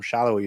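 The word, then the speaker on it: Salloi: away to Daniel Shallowy, whose name is pronounced Shallowy, even though it looks like Saloy.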